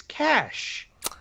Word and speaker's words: cache: by people who think there's no accent on the e it's cash whatever well i don't